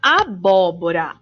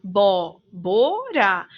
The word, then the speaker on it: abóbora: sílaba tônica foram antepenúltima aqui vemos a palavra abóbora a abóbora tão última penúltima ou ó é a antepenúltima sílaba e é a sílaba tônica portanto quando a sílaba